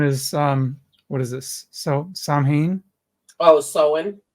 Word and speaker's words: Samhain: So Samhain? Oh, Samhain. Soen, thank you. There. Samhain.